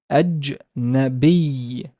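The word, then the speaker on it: أجنبي: So Hamza with Fatha. Jim has Sukun. Then Noon has Fatha. And the Be has nothing, but there's a Ya. So it's a long E sound. Ajnabi. Ajnabi. Foreign.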